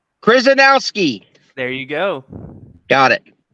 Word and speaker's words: Chrzanowski: And joining us from Amarillo, Texas is referee, let me say it right, Chrzanowski.